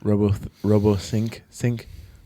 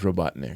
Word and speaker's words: Robotnik: books I ever read, I pronounced it wrong as a kid. What'd you say? Robothink, That happens. but it's Robotnik.